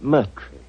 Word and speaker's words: Moriarty: My name is Murtry.